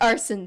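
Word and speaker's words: Arsène: His name is pronounced Arson, but it's spelled like Arsene.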